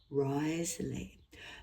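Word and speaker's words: Wriothesley: Henry Risely or Rosely even though it's pronounced sorry it's got a W at the front I think the correct the corre correct pronunciation is Risley the third Earl of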